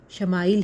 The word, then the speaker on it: اسماعیل: سے اپ کو حضرت اسماعیل کی خوش خوشخبری سنا دی گئی۔ عبرانی زبان میں اسماعیل کا تلفظ شماعیل ہے۔ کیونکہ اولاد کے متعلق